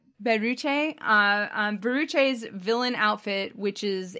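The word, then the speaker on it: ベルチェ: Her name in Japanese is pronounced Beruche.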